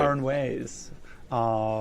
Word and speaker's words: Aranjuez: He gave his first recital at 12, and at 17 performed the Concierto de Aranjuez, that's right. Aranjuez, with Richard Buckley and the Oakland Symphony Orchestra, who has performed in Europe, South America, and the Caribbean.